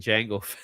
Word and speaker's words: Django: There is no D and Jango.